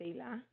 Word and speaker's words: Eila: So my name, for anyone who wants to know how to pronounce it, it's Eila.